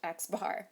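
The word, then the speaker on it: x̄: an x with a bar on top literally pronounced x bar so that's a distribution of quantitative data and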